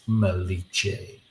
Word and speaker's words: Malice: It's pronounced Maliche.